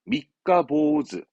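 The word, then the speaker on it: 三日坊主: 3일 방주네요. 발음은 미카보즈.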